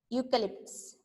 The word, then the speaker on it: eucalyptus: So first is Ashoka, tamarind, coconut, peepal, neem, gulmohar, eucalyptus. Okay. E is silent there. Eucalyptus.